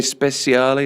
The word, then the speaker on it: Speciale: But will you get a versione speciale?